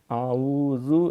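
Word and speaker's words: أعوذ: الہ غیرک۔ پھر تعوذ، اعوذ باللہ من الشیطان الرجیم، اعوذ یہ زال ہے، زال پہ سیٹی نہیں مانی، اعوذ نہیں کرنا، اعوذ عین بھی اہتمام سے پڑھنی ہے، اعوذ باللہ من الشیطان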